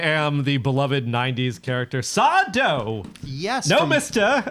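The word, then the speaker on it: Sardo: I am the beloved 90s character Sado. Yes. No, from mister. Accent on the dough from Are which You Afraid of the intellectual Dark?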